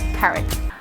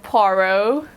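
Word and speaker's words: Poirot: to detail worthy of detective hercules parrot i'm just kidding i know you hate having your name mispronounced detective poro entering the orient express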